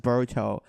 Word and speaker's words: Boruto: What the hell's a Boruto? It's actually pronounced Boruto.